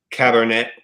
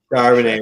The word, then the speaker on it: Charbonnet: I mean, Zach Cabernet. How do you pronounce his last name? Somebody help me. I say Charbonnet. Charbonnet, there it is.